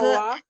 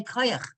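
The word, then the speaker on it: כוח: Koach. Yeah, koach. And in Yiddish they say koyach.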